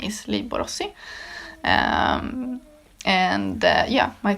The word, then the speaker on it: Borossy: My uh as you probably can hear from my last name, Borosi or Borosi is the original pronunciate pronunciation pronunciation is how you pronounce it. Okay, you get me? Um is Hungarian.